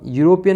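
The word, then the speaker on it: European: अब यूरोपियन में आपको इ देख के एन का प्रयोग मत कर देना। ठीक है? क्योंकि इसमें यूरोपियन में आपकी जो आपके जो उच्चारण हो रहा है, साउंड आ रहा है, वो यू का आ रहा है।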